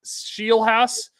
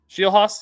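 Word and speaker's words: Scheelhaase: Nate Shieldhouse, the guy that was Is that how to say it? Is that how you say that name? I don't know how to say Shilhos.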